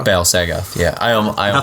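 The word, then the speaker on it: Bal-Sagoth: And the guy doing the keyboards and violins for this record was the guy from Battle Saga. Battle Sagoth. Yeah, I almost mispronounced it.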